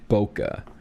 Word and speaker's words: bokeh: you look up the word bokeh i think it's spelled b-o-k-e-h or a-h boca this is something that we filmers and photographers